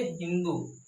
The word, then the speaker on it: हिंदू: तो यहाँ पर देखेंगे सिंधु, सिंधु का उच्चारण ये सिंधु ना करके बल्कि ये क्या करेंगे? हिंदू। इन्होंने क्या किया? हिंदू किया। सिंधु का उच्चारण इन्होंने सिंधु ना करके हिंदू किया।